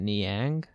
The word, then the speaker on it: Niang: don't play this that well george is it niang or is that how you say it george and yang yeah yeah that dude normally scores like five